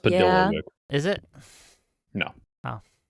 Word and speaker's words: Padilla: It's pronounced Padilla.